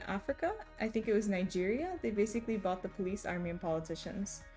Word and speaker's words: Nigeria: Okay, Romo, the only surprising thing of what you said is that it's Nigeria. Maybe it's Niger. Because Nigeria is like a really big country. One of the biggest countries in the world by population. You've been saying it right, Mariah.